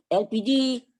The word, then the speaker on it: elpiji: apa itu gas elpiji elpiji pelafalan bahasa Indonesia dari ekonomi bahasa Inggris LPG yaitu Liquid Petroleum gas